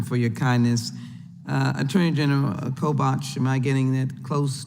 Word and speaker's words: Kobach: Attorney General Kobach, am I getting that close to pronunciation, sir? Kobach, yeah.